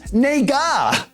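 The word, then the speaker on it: 那个: word and it's pronounced nega as a pro-liberty friend who frequently travels to asia told me stress is on the first syllable and the second syllable is very slight almost clipped it means that or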